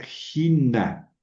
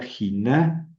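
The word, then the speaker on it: ἵνα: Por ejemplo, aquí tenemos eh la palabra jina. Gina. ¿Por qué leo jina? Porque lleva espíritu rudo. ¿Ven? Sobre la yota.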